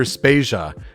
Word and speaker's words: Spasia: tracks behind them my name is spasia and we're brought to you by Anonymous dinosaur and rhymes with Asia it's time to appreciate